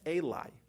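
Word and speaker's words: אלי: Ulai without a vav, which can also be pronounced Eli, which means to me. So Rashi there tells us that the reason why it's spelled without a vav, when it's spelled that it could be pronounced Eli, even though it also could be pronounced Ulai, is to tell you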